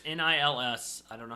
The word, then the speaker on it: Nils: The original one is done by Nils Ham. Or Niles? I think it's Nils. Nils. It's Nils.